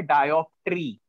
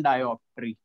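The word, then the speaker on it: dioptre: तो power is measured in, या ऐसा यूनिट आप जो भी चाहो लिख सकते हो, इसका यूनिट होता है डायोप्टरी। स्पेलिंग देखो क्या है, स्पेलिंग है डी आई ओ पी टी आर ई, ये है भाई।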